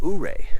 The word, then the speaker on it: Ouray: Going to Ouray, and I'm pretty sure that that's how you pronounce it. Ouray, not Ouray or Ouray. It's got to be Ouray.